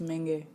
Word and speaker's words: Menge: They pronounce it like you pronounce mango in French.